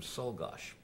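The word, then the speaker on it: Czolgosz: a lady um who was a niece of cholgosh or great niece i guess and unfortunately told me that the family pronounced the name solgash and we've gone through this whole show pronunciation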